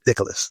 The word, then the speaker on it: Nicholas: His name is Nicholas. All three syllables.